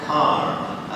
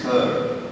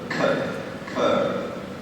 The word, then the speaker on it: Kerr: Kerr, and I want you to be clear that that is how you pronounce his name. It is not Kerr, as so many people in Thailand say. It is Kerr. Kerr.